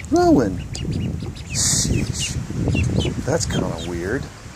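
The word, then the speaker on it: Rouen: Yeah, and that's its name, Rowan. Sheesh, that's kind of weird. I think it's spelled R-O-U-E-N.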